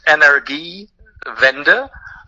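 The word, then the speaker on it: Energiewende: that phrase into english sure so uh the pronunciation is energy vendor so energy energy in german and vender is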